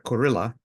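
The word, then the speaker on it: Kurilla: ellos del otro lado el general curilla en inglés se pronuncia corilla que es el jefe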